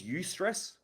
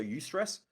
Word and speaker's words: eustress: types of stress there's eustress which is spelled e u and then the word stress so you stress or distress distress is